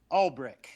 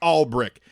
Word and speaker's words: Alberich: like i'll be rich and how do you pronounce it all brick all brick jason and jared albrick jared albrick you're a